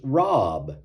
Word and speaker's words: Robb: After making a YouTube short about this card, I heard from the great nephew of Fletcher, who corrected the pronunciation of the last name, which is Robb.